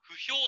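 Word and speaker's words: 歩兵: この歩、これちなみに読み方は歩兵と読みます、うん、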